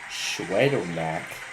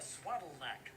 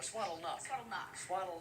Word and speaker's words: Swaddlenack: Well, it's Shayna Swaddlenack. Or Swaddlenuck. Swaddlenack, yeah. So that's the way her name is pronounced. Schwaddlenack. Schwaddlenack is the way it's pronounced.